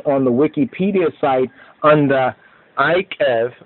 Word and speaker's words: Eikev: that, EIKEV like that, or EQEB, which is probably the better sense, the E pronounced as an I sound, or EIKEV, the Hebrew for if you follow.